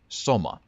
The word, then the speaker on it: soma: I haven't checked what it denotes in the context of the game, but in Finnish, in my language, the word SOMA, or as we pronounce that, SOMA, essentially just means sort of a cute or sweet, like a oh that's so cute.